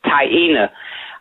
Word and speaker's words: Taina: correcting me, right before we came on air, Taina.